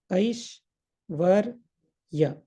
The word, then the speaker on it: Aishwarya: Similarly, Aishwarya, how to pronounce? Aish is 1. Svar, Aish is 1, then Var, Ya. Aish, Var, Ya. So this is how we can break it down. And often things become very easy when you break it down into English, write in English. So this part becomes Aish. This is Var. This is Ya.